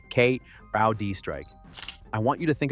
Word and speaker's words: CrowdStrike: The list of partners they've been approaching includes Salesforce, Cisco, Google, Adobe, and Crowdstrike for pronunciation Kud Strike.